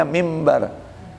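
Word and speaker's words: منبر: Asalnya tulisannya minbar, tapi dibacanya mimbar. Nun ketemu ba, iklab, balik. Ya. Nun jadi suara mim.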